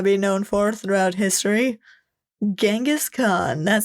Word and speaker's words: Genghis Khan: known for throughout history genas Khan that sounds amazing and some people pronounce it chingis k instead of gasan and that's only because translating things to English was a little tricky so if you think